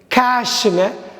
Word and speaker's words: cache: CACHE கேஷ்ன்னு படிக்கணும், கேட்ச்ன்னு படிக்கக்கூடாது, கேட்சின்னு படிக்கக்கூடாது. கேஷ், கேஷ். CASH எப்படி உச்சரிக்கிறோமோ அப்படி தான் CACHE உச்சரிக்கணும்.